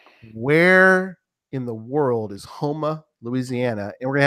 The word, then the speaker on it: Houma: We've heard, at least I have heard a lot about Houma, and I pronounced it correctly. You did it. Houma.